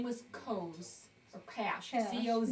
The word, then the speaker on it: Coz: C-O-Z, but And they pronounce it, Cash. the Z as an S-H.